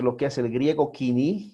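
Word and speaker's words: koiné: nosotros vamos a ver el griego quini o como se escribe él codine pero se debe leer quini ok el 330 al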